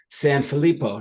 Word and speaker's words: Sanfilippo: everyone two is San filipo did I pronounce that correctly you did which is extremely rare thanks Timothy try to